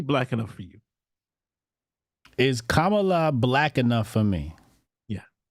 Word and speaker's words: Kamala: get off camela ca's Kamala you saying it wrong man cameela no it's Kamala kamala's you say come